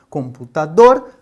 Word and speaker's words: computador: Então, no caso de computador, computador, dor é a sílaba mais forte. Nós então consideramos essa uma palavra oxítona.